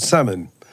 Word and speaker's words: salmon: thin a he said salmon okay we're talking about n 10 year olds summons sounds easy but it isn't because it's got a silent letter in it so here's what we